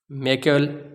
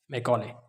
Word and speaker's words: Macaulay: Mister Charles Wood ने जब ये इंट्रोड्यूस किया, इसको और ज़्यादा तक़वियत मिली तब जब लॉर्ड मैक्यूल भी है, इसको मैकाले भी पढ़ते हैं, स्पेलिंग में MACAULAY, मैकाले इंट्रोड्यूस्ड इंग्लिश।